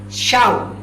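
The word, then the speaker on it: שוא: Esa palabra vano es una palabra hebrea que se escribe S-H-A-W, se pronunciaría como algo shau. ¿Saben qué significa esa palabra?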